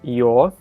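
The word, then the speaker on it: ё: you're you're all right pretty much like this yo so in the word yoga right uh the your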